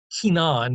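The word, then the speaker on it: Cainan: Enos, and then it looks like it'd be pronounced Canaan, right? Canaan. Lots of different spellings coming from this individual. Kenan is the modern, according to one of the set of notes I was looking at.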